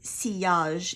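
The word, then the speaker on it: sillage: and it's actually um cage it's the original French pronunciation pronunciation is cage and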